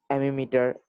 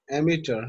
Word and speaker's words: ammeter: heater and thermometer, a DC power supply, an ammeter, a voltage meter, a stop clock. So On we fig have an 3. emitter. You Yes, sir. pronounce it as emitter, huh?